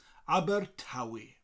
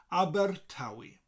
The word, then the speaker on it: Abertawe: that and aber tawi so think of the group the band abba and think of the tv show the only way is essex known by fans as tawi imagine that abba is making the theme tuned for the next series of tauwi abbar tawi abbar tawi so put the abba and the taoi together with a little rolling r in between abbar tawi i live